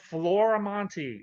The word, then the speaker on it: Florimonte: Well, it's spelled Florimonte, FLORIMONTE.